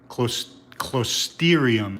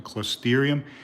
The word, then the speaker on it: Closterium: are alive that's algae close therium i believe you pronounce them closterium and if you these